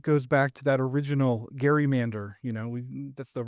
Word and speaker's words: gerrymander: I think in some ways it goes back to that original Gary Mander. You know, we that's the right way to say it. It's a Gary Mander.